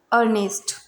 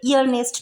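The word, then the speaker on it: earnest: Examples हैं अर्नेस्ट, यहाँ पर ई है और ई के तुरंत बाद AR है तो इसको अर्नेस्ट बोलेंगे, ईयरनेस्ट नहीं बोलेंगे।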